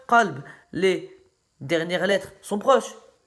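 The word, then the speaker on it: قلب: Par exemple, en langue arabe, le mot chien se prononce kelb et le mot cœur qalb.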